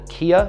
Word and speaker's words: Qia: for a while is a company called Kia so it's qia is how you spell that they've got coconut chocolate